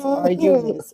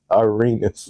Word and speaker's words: Arenas: So I thought it was, so it's Arunus. What Arunus? What is it? Arunus. Arenas.